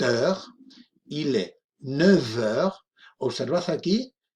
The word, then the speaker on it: neuf: 8 heures, il est 9 heures. Observad aquí cuando pronunciamos el número 9, neuf, con una F, ¿de acuerdo? De France, pero cuando hacemos el enlace con heure, vamos a pronunciar una V, v.